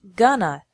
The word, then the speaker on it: going to: an hour remember that in spoken English going to is often pronounced gonna so these sentences would be pronounced on my next vacation I'm gonna stay in a nice